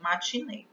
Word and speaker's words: matinê: Essa eu já pronuncio com E fechado, matinê.